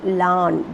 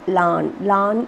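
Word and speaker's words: Laugharne: very famous picturesque seaside town of llan it's pronounced lan this though the spelling is this it is pronounced lan is a place in wales okay sounds of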